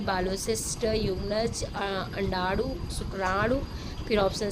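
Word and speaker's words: Jung: तो ये ज्यूंग लिखा जाता है, प्रोनाउंसिएशन जो है इसका यूग किया जाता है।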